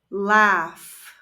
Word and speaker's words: laugh: play play laugh laugh notice that the a and u are pronounced a ah and the G and H con ANS are pronounced laugh listen listen watch watch